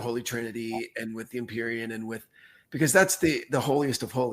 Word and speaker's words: Empyrean: The Empyrean.